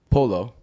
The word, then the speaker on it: pollo: Oh, well, they pronounce their L's, so they're like pollo is polo.